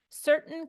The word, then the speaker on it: certain: certain can be and let's first talk about the pronunciation certain certain the this whole last part the T I'm making it almost a stop certain certain I don't know I don't even really say the T I don't say the